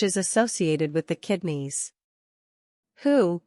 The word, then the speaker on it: Hu: associated with the kidneys who pronounced like who which is associated with